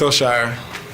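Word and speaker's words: Al-Shaair: This is from him. This is how you pronounce his name. Aziz Al-Shire, number 51.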